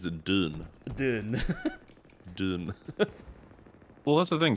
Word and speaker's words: Dune: pronounced with a soft D that almost sounds like Jew, but not quite. But it isn't a J though. Still a D kind of June.